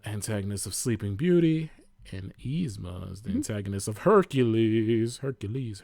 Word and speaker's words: Yzma: It's Yzma. Yzma. Yzma versus Yeah, like it's easy.